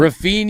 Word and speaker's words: Rafinha: Rafinha. Yeah. My bad. I didn't wear the pronunciation. I liked it. I like it. Rafinha.